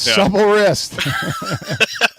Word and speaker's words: Supple Wrist: Yeah, doesn't your average gamer, does he always pronounce it wrong, right? Isn't he like supply it's Supple Wrist.